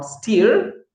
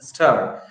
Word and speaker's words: stir: In the same way, it is not steer. I have heard many people pronounce it as steer, but no, it is stir.